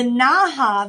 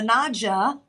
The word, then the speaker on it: naja: the naha that I talked about or the naja I say ha because j in Spanish is pronounced with an h but the large uh